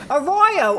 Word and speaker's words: Arroyo: been in production for months and I'm like a Royo a Royo and uh and and that's what